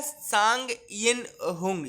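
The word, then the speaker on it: Tsang Yin-hung: तो सांग बोलते हैं, वैसे तो पट्टी साइलेंट रहता है तो हम सांग बोलते हैं, यिन बोलते हैं YIN यिन, और HUNG हुंग, ठीक है ना।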